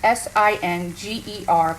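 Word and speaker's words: singer: This is called Singe. Whenever you add flour or roux to a sweated like produce or product or whatever, it's S-I-N-G-E-R, but pronounced Singe.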